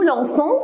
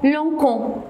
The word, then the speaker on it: lançons: mais on dit nous lançons avec CCD avant le ONS. Pourquoi? Parce que si je ne mets pas le CD, on va la prononcer comment? Lancon. Alors c'est faux, il faut mettre le CD.